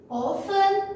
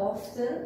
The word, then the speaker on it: often: olarak adlandırdığımız always, usually, often ya da often, ikisi de telaffuz olarak ikisi de kullanılır arkadaşlar, yanlış değil. Often ya da often. Often İngilizlerin tercih ettiği kullanım, often Amerikanların tercih ettiği.